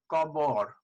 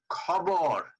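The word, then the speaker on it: খবর: You may be pronouncing it as kabor, which the Bengalis will not understand. Okay, let's look at few words. Khabor.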